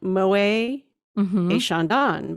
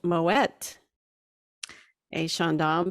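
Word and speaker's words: Moët & Chandon: That because they had a pronunciation thing, and it's because the owner, Mr. Moet, was actually originally Dutch origin, and that's how they pronounced his last name.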